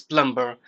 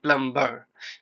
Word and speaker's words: plumber: If you look at it spelling and try to pronounce the word, you will pronounce this word like plumber. But actually this word is plumber. There isn't any B sound.